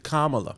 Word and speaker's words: Kamala: Puis, C'est Kamala.